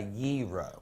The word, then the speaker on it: gyro: zero or zero and some people's call it guy rose some people come heroes but it's really a gyro what can you please